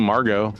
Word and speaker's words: Margo: name so the name Margo is the French diminutive of margarit and it's the pronunciation Margo and not Margot uh which means Pearl